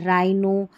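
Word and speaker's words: rhino: जैसे यहाँ देखिए राइम, इसको पढ़ रहे हैं हम रिदम, और ये हमारा है राइनो, और ये हमारी स्पेलिंग है राइनोसर्स, राइनोसर्स।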